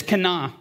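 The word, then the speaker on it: קָנָה: The word is kana. Not to be confused with Elkanah, as in a jealous God. It's phonetically the same. It's spelled completely different. That's with an aleph. This is with a hey.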